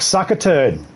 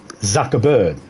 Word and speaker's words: Zuckerberg: And hey, Mark sucker turd. Is it sucker turd, right? Mark sucker turd. That's how it's pronounced.